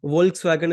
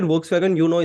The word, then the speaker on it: Volkswagen: Volkswagen is actually pronounced as Volkswagen.